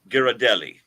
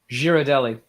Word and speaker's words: Ghirardelli: The chocolate company Ghirardelli. Girardelli.